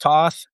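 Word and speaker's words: Thoth: So the history of both the Atlantic, they don't read that, and his name is pronounced Toth, but most people would be like, "What did he say?"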